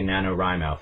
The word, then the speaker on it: NaNoWriMo: And it was written by Chris Beatty, one of the founders of National Novel Writing Month, which also goes by NaNoWriMo. Some people say NaNoWriMo.